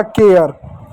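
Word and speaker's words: care: जैसा एक शब्द सी ए आर ई। तो ए के बाद क्या? आर ई है। ठीक है? उसका मतलब यहां पर ए य पढ़ेंगे। कैसे? सी का क्या पढ़ेंगे? क पढ़ेंगे। ए को क्या पढ़ेंगे? ए की मात्रा प्लस य पढ़ेंगे। ए भी खत्म। सी भी खत्म। आर को क्या पढ़ेंगे? र पढ़ेंगे। आर भी खत्म। इ साइलेंट हो गया। इ का कुछ नहीं लिखेंगे। हो गया आपका केयर।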